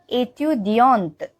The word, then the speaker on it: étudiante: the feminine version is étudiante. Étudiante. So in the masculine version, we don't pronounce the T, ending wala T, but in feminine version, we do pronounce it.